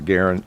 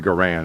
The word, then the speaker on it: Garand: it or did I I'm not gonna call it a Garen even though that's the way John garand pronounced his name everybody calls this the garand it's always been the